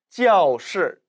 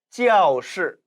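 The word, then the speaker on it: 教室: 따라서 가르치다 教学教学 일성으로 발음하지만 교실이라는 명사로 쓰일 때는 教室教室 사성으로 발음된다는 것이죠.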